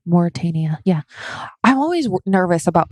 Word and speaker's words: Mauritania: in the eye of the saharia Sahara in Mauritania Mauritania yeah I'm always nervous about pronouncing that one because I want to say mortenia because of how it's spelled yeah that's not the correct way to